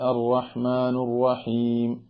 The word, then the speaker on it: الرحمن الرحيم: വേറൊരു കാര്യം, പലപ്പോഴും ആളുകൾ ഓതിക്കുന്ന സമയത്ത് പലരും കാലങ്ങളായി ഓതി വരുന്നത് അർറഹ്മാനു റഹീം, ബിസ്മില്ലാഹിർ റഹ്മാനിർ റഹീം ഇങ്ങനെ പറയുന്ന സമയത്ത് നമ്മൾ ശ്രദ്ധിക്കുന്നില്ല നീ എന്ന് പറയേണ്ട സ്ഥാനത്ത് നൂനാണ് പറഞ്ഞത് എന്ന്.